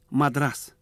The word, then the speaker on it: Мадрас: Мадрас. Сейчас мы приготовим один из вариантов отвертки. Это мадрас, в честь города, который еще произносят с ударением на последнем слоге.